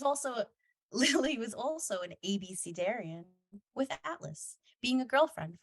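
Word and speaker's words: abecedarian: it spells pronunciation is a b c like the alphabet dare like Truth or Dare Ian like uncleian ABC Darian definition a beginner someone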